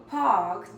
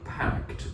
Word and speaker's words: parked: It sounds a little bit like you're saying packed to me.